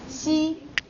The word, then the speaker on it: Xi: How do you say that? With a smile. Yeah, show me teeth. Xi.